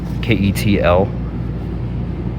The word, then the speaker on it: KETL: I think it's pronounced Kettle, this brand. Ketl.